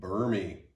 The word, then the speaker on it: Burmy: That's how you pronounce it. Burmy.